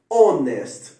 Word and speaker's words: honest: ele é mundo então é a Nordeste Man honest é a pronúncia correta Ok então sempre que o a